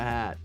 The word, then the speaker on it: haver: Richard Hammond wears a hat thank you Raya thank you very much for that sounds like a banger episode Haver is pronounced ha according to the song lyrics might be a Scotsman thing I guess huh it's